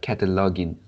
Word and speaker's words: cataloging: I mean the last syllable in this cataloging is gin. It's not ging. Mm, It's the same as begin, the second syllable in begin.